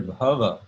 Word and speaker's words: bhava: existence in this context the word baba with a long a means emotion feeling mood can mean ecstasy as in the stage of advanced devotion described by rupa gosvami but here bhava with short hair uh comes from the